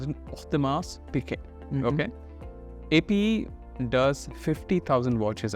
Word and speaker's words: Audemars Piguet: Or let me pronounce it, Audemars Piguet.